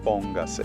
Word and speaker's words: póngase: but we add that extra syllable, the se, and so now the stress is still in the po, but we added that extra syllable, so it changes everything. So we want to keep the emphasis in that same syllable that it had it in before. Exactamente. So it's going to be póngase.